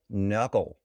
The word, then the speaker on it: Nørgaard: And a double A in Danish turns into an O, which makes it a gård and not a guard.